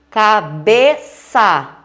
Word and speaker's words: cabeça: Cabeça, ela é classificada como paroxítona. Por quê? Bé é a sílaba tônica e ela é a penúltima, tá certo?